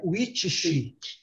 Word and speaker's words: which: Which, oh, gente, não é which, não. É which she. Which she. Which she. Which she. Which she. Which she. Which she. Which she. Which she. É aquele T e aquele S grande. Which she. É lógico que ninguém vai falar witch, China. Witch. Witch. Witch. Tem uma chiada no fim, né?